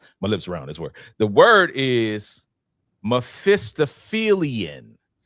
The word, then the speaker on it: Mephistophelian: The word is Mephistophelian. Mephistophelian. Okay. Okay, you got to spell that one out.